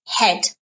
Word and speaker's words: head: this yes this is head pronunciation notice you don't pronounce the A's silent okay and the